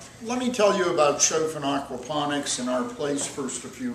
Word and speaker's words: Choffin: By the way, it's pronounced Choffin according to the people who run the trust, and I suspect they would know.